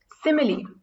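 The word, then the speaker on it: simile: में हम नया कांसेप्ट एक देखने वाले हैं सिमिली यह स्माइल नहीं है इसकी स्पेलिंग ध्यान देना एस आई एम आई एल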